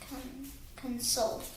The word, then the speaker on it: console: And how do we say it? Console. Where's the strong part? Console.